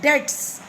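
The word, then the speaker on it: debts: Then he said, तब आपने फरमाया, the best people are those who पे ऑफ देयर डेट्स। बीस में साइलेंट होता है बेटा, इसे डेट्स बोलते हैं, डेब्ट नहीं बोलना, डेट्स जॉयफुली।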